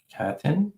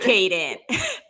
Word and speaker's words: Catan: Something we would not know from looking at her is that she's a savage in Catan, C-A-T-A-N.